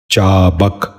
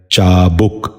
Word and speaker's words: چابک: سبق شروع کرتے ہیں۔ پہلا لفظ ہے چابک۔ یہ غلط تلفظ ہے، درست تلفظ ہے چابک۔ دوبارہ سنیے، چابک۔ بچوں